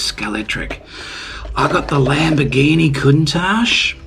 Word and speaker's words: Scalextric: scale X trick um man that X I tell you I'm sick and tired of trying to pronounce that in the the new the new age way of pronouncing the word it was always scalet tric I got the Lamborghini